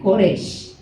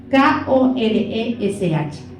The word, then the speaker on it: Koresh: En hebreo se pronuncia Koresh. K-O-R-E-S-H.